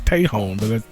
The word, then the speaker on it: Tejon: corrected in in text is difference there's like pronounced Tait home I'm like okay it's Tejon that's weird it's a nightmare because people try